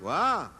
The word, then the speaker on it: wha: There's no T on this. It is pronounced, wah.